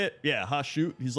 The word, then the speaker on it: Hashut: Yeah, Hashut.